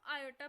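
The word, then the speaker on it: iota: चीज ऐड हो जाएगी अंडर रूट ऑफ -1, जिसको हम आयोटा प्रोनाउंस करते हैं।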